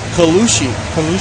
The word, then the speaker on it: Colucci: How do you pronounce Ella's last name? Colucci.